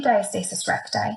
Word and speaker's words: diastasis recti: there, their abdomen muscles separate, and that's called diastasis recti.